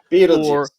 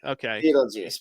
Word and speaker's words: Beetail Joose: Is it the BEETAIL, or is it like BEETAIL? Is there any specific way of saying it, like Beetlejuice? Beetlejuice. Okay. Beetlejuice. But obviously we spell it BEETAIL, because there's bees on it, so it makes sense. Say it fast. It's Beetlejuice. Beetlejuice, right?